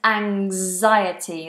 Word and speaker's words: anxiety: Or and anxiety. That's a g and a z. Anxiety.